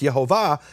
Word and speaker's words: IeHoVaH: And the rabbis say, if you do that, if you heal in the name, actually pronouncing the name, IHVH, the way it's pronounced, IeHoVaH, then you have no portion in the world to come.